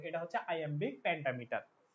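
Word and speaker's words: iambic: এই জিনিসটা এটা হচ্ছে আইএমবিক প্যারামিটার প্যান্ডামিটার আইএমবিক প্যারামিটার প্যান্ডামিটার এটার উচ্চারণক কিন্তু আই এম্বিক ঠিক আছে মানে কি এল ভাবো এটাকে ল্যাম্বিক বলে ফেলো না এটা আই এম্বিক ঠিক আছে আই এম্বিক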